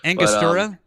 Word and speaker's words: Angostura: Don't worry, I can't pronounce it either. Angostura?